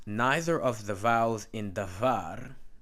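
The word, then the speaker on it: דָּבָר: Thus, neither of the vowels in davar, notice is D-A-B-H-A-R, remember the B-H will be V and not B. Davar, right here, Dalis Beis Resh, davar, meaning word or thing, is pure long.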